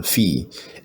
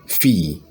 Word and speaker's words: fille: yes - petite fille Emma yes let me spell it p e TI te p e TI te petite now fee f i WL e f i ll e fee then e st ma ma yes yes yes